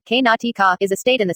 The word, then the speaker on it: Karnataka: let's start the video karnataka iso karnataka kannada pronunciation k-natika is a state in the southwestern region of